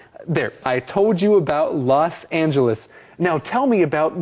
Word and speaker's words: L: I went to work by train，都可以。后面为什么称呼芝加哥的这个地铁叫做 the L 呢？字母的这个 L 呢，是从 elevated 这个字来的，E-L-E-V-A-T-E-D。Elevated 是高架的，Elevated